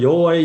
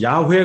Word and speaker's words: 여호와: 잊어버리지 않도록 했다는 겁니다 그래서 하나님의 이름은 야외 가 아니라 여호와 라고 바로 한다는 거에요 근데 성경에 보면 여호와